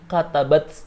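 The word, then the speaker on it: كتبت: Kataba, karena dia kemasukan tak taknis yang menunjukkan perempuan, maka hamznya harus terbaca menjadi katabat.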